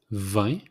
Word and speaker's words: vin: Wine, it's vin, like the number 20, vin. It's exact same pronunciation, vin.